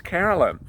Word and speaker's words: Harolyn: It's spelled Harolyn, Harolyn. And I kept on pronouncing it Harolyn, and then yesterday she said, no, it's Carolyn.